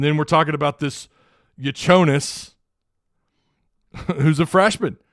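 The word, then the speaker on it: Jakučionis: they have this cat this dude's last name has been pronounced like three different ways I think it's casparus uh yo yonis yanis it's spelled j a k u c IO n i but I think it's pronounced y yonis sounds like a slur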